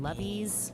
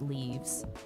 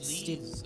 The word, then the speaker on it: leve: l e v s some people call them lovees some people call them it's pronounced leaves it's leaves okay stupidly enough calling them leses yeah I don't know at some point they